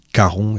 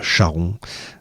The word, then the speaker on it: Charon: J'en profite pour vous rappeler hein, on dit caron et pas charon. Euh même si ça s'écrit ch, on diton.